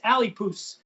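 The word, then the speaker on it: Alipús: This is the second one is Alipoos. Alipoos, that's how we pronounce this one.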